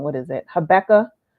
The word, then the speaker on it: Habakkuk: I know I always say the name wrong. What is it? Habakkuk.